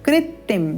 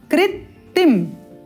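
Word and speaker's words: कृत्तिं: तो गणर व्याघ्र कृतिम यहां पर हम लिख देते हैं इसको कृतिम यहां पर एक त है और यह अतिरिक्त आधा त कृतिम कृतिम इस प्रकार से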